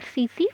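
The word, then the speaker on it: tsetse: Brain और सीसी fly, sleeping sickness S से और एस से सीसी फ्लाई, लेकिन इसको प्रोनाउंस करते हैं एस से और लिखते हैं टी से। तो ये कुछ प्रोटोजोअन डिजीज़ेज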